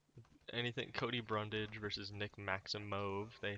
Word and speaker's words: Maximov: Anything Cody Brundage versus Nick Maximov. They pronounce it Maximov. So does Maximov. It's not. It's Maximov. spelled Maximov, but they pronounce it Maximov on the broadcast for some You reason.